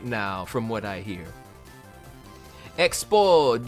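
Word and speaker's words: Expos: Expo, you do not pronounce the S in expo.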